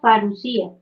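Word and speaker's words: Parusía: Se pronuncia parucía, ¿sí? Porque lleva el acento en la I. Entonces es la Parusia.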